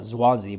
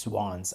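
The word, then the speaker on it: Zwanze: called zwan day which I used to always call it zansi but apparently it's just swans I had to look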